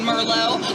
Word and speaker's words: Merlot: You know, the ones that know that the T is silent in Merlot, also in Pinot.